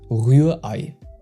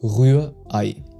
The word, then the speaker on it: Rührei: So for the Ü, you need to round your lips and keep the vowel kinda high in your mouth. And you pronounce the EI like the English I. And the mistake most learners make is 1. Dropping the H and 2. Making the Ü into a plain U, which instantly makes the sound foreign.